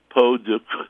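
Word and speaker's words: peau de crème: Peau de creme, or if you want to get really technical, peau de creme, and then you have to insert a phlegmy, back-of-the-throat, crackly French sound.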